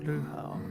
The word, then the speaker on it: Brujo: Oh, it's pronounced Brujo. Okay, I think. Can't roll my R's, but yeah.